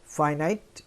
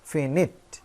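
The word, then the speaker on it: finite: এবার আসো, ভার্ব প্রধানত দুই প্রকার, একটা ফাইনাইট অথবা এর আরেকটা উচ্চারণ ফিনিট।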